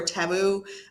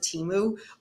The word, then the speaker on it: Temu: I know people pronounce it differently, the Timu or Temu. I pronounce it Timu, but it's not like a Timu, site where it's like, hey, like no.